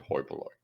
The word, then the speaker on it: hoi polloi: You're not supposed to write an H. It's oi polloi, but you pronounce it hoi polloi.